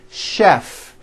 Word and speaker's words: chef: are a couple of words that are spelled with ch and are also pronounced with the sh sound words like chef and the city of chicago okay having said that